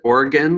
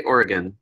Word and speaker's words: Oregon: ask Oregon correctly and if you pronounce it organ like an body organ only really skeptical of you I don't know what I'll thanks though or Oregon dozen we're again yeah just say Oregon so good work there